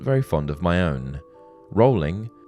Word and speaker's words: Rowling: Rowling, the first syllable of which is pronounced row, as in boat, rather than row, as in argument, lent itself to woeful jokes such as rolling stone, rolling pin, and so on.